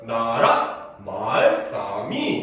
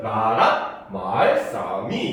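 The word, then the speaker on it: 나랏말ᄊᆞ미: 해야 되는 거야 알겠습니까 그다음 마은 점이 몇 개 두 개 상성이 얘는 낮았다가 높아지는 소리라는 거죠 알겠죠 그다음에 싸는 점이 없죠 그럼 얘는 또 낮은 소리가 되고 그죠 미는 점이 한개 높은 소리가 돼 그럼 얘들 바마 하면 나라 말싸미 이렇게 발음해야 된다는 거야 그죠 중국사랑 같죠 그지 옛날에는 이렇게 성조가 있었다는 겁니다 그래서 이렇게 읽으면 나라 말싸미 이렇게 읽어야 된다는 거야 알겠습니까 그죠 그래서 이런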